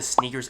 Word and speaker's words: SNKRS: app that i use it's called the sneakers app it's spelled snkrs and it's created by